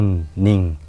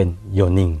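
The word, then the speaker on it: 四人: คน ใช่ มั้ ครับ แต่ ว่า คำ นี้ เนี่ย จะ มี การ ออก เสียง พิเศษ คือ จะ กร่อน ลง มา สั้น ลง เป็น โยนิ นะ ครับ ไม่ ใช่ โยนิ แต่ จะ สั้น เหลือ เพียง โยนิ แปล ว่า 4 คน ครับ ใน บท สนทนา ของ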